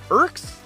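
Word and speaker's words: IRQZ: I R QZ. IKS. IKS.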